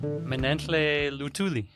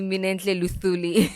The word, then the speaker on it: Minentle Luthuli: Manle lutuli. Yeah. Thank you for pronouncing it right for an East African. Actually, most people say thuli or Yes, they do. They they call me Min Luthuli.